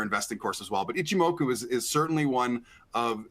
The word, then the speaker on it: Ichimoku: my indicator like and I think it's pronounced ichimoku so I'm not sure if that one's available but I hopefully I didn't I didn't butcher that one no you got it right ichimoku and some of the names of many technical